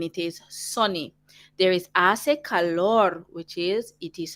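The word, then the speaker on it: hace: of them begin with ase remember we don't pronounce our h in spanish that's why we say ase and i while the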